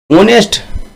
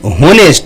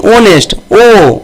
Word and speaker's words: honest: তার কারণ হচ্ছে অনেস্ট HONEST হোনেস্ট হওয়ার কথা ছিল, কিন্তু এইচ এর কোনো উচ্চারণ না থাকার জন্যে, অর্থাৎ এইচ এর উচ্চারণ কার মতন হচ্ছে, ভাওয়েলের মতো হচ্ছে। অনেস্ট আমরা যখন মুখে বলছি অনেস্ট, ও বলছি, ও তো